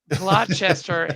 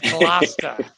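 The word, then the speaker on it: Gloucester: kid man all right it's not glester it's GLA I'm a Midwestern kid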